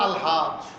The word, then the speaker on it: আলহাজ: তিনবার করলে বলা হয় আলহাজ্ব এখন এগুলো কি বোঝার ধর্ম আপনাদেরকে আলহাজ এটা শব্দটা আর কি আরবি স্টাইলে উচ্চারণ হবে আলিফ লাম সহ আরবি স্টাইলে উচ্চারণ আর হাজ এটা হাজ আরবিতেও কইবো